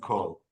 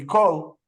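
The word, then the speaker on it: כל: But even if there's a dot on the top, without the vav, it still can be pronounced kol. It would still be kol.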